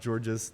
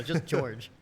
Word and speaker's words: Georges: one thing it's George I know there's an s in my name but it's George not georgees the S is silent French people are weird